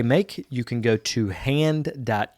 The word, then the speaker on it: Haand: mark warren he's one of the co-founders of hand which is spelled h-a-a-n-d which is a porcelain tableware manufacturer